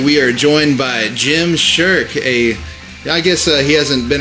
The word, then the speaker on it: Schurke: The name is Schurke, and I'm glad to be here. Schurke. Man, I really don't know how to pronounce.